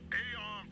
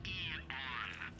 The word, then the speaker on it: Aeon: With the state of the world today, the Aeon program is I'm sorry? It's pronounced Eon.